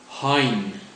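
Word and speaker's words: Hein: let's look at the spelling of my name Hine Hine spelled h e i n said in the same way that you would pronounce hin baked beans Hines ketchup or hinin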